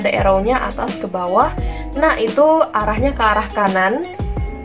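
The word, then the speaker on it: 捺: Nah, itu arahnya ke arah kanan. Tapi tetap dari atas ke bawah bacanya na.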